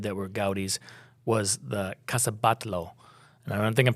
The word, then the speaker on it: Casa Batlló: But my favorite of the things that we did that were Gaudi's was the Casa Batlló. And I don't think I'm pronouncing it right, but it's I think you are. Casabatlo, by the way.